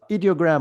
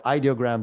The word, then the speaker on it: Ideogram: So the next best thing that we had so far was ideogram or ideogram, depending on how you want to pronounce it, which is a great